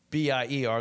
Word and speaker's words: Bier: Ber, the German uh spelling is pronounced like the English Ber, right?